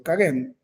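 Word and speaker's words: Kagame: encabezada por el hoy presidente Ruanda el señor kagen pronunciar el hombre difícil se escribe cagam é es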